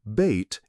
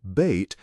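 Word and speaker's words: بيت: The letter ba is the first letter in the word bait in Arabic. The pronunciation of the word bait is written below the rectangle.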